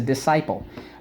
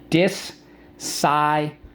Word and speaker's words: disciple: That's a disciple. Okay, so that's someone who's a follower. Let's go. Disciple. Disciple. In the second syllable, we use the k.